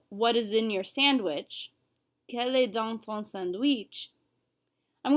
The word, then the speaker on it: quel: the end of that all four forms are pronounced Kel so if I was going to read down this slide I would read Cal Cal Cal Cal we don't hear or say a difference but we see it when we're reading and